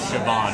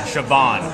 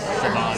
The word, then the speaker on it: Siobhan: say happy birthday Merch this is shoban sioban sioban right and and say your name again mer mer yeah so wait so I say sioban you say Merz sioban yeah there we go okay so I'm saying